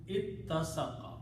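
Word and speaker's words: اتَّسَقَ: The sound of this is ta. So this become ittasaqa.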